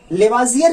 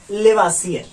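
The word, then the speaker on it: Lavoisier: लेवाजियर हिंदी में यह शुद्ध उच्चारण है, बहुत जगह आपको मिलेगा लेवासियर। तो चूंकि SIE से ज भी माना जाता है, S से स भी माना जाता है, तो कहीं आप लेवासियर पढ़ सकते हैं, कहीं लेवाजियर मिल सकता है आपको, लेकिन शुद्ध उच्चारण लेवाजियर है।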